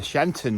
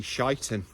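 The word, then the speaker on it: Sheinton: doing today and I said I'm off to shanton now and he corrected me in the pronunciation it's actually shiten and I'm not joking that is actually the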